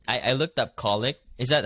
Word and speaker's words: colic: if you're you said I I looked up colic is that how you say it yes baby